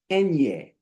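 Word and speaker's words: eñe: And this N with the little tilde over it is N ye. Nyu nyu N ye. Like an onion. N ye. That's how they pronounce that.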